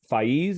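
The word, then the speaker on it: Faiz: time to read uh fees is how you pronounce the poet spez excuse me spez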